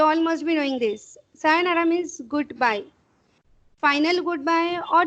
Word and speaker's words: Sayonara: Same thing you have to pronounce here. Double O is there. Sayonara.